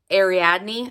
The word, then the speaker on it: Ariadne: The next book that I'm tossing around is Jennifer Saint's Ariadne.